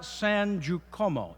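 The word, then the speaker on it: San Giacomo: on posters and trailers the lawsuits about Laura San Jacomo is by the way how you say it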